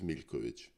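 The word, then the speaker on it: Miljković: them as a Milkovic, you write with a L and then a J before you put the Kovic on it. Yes, the J in languages of former Yugoslavia is pronounced like a English Y.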